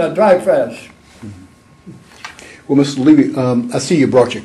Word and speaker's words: Levy: See, I pronounce my name Levy. Okay. Because I don't have the money Levy's got. That's why I pronounce it Levy.